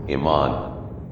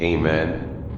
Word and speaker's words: Amun: According to the transliteration you can pronounce it as Amon, Amen, Amun, Amon, Amon, Amin.